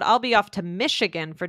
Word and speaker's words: Michigan: So Michigan, I put in, but we didn't have a chance to talk about it, but basically it's spelled M-I-C-H, but it's pronounced M-I-S-H. It's actually like Michelle, right?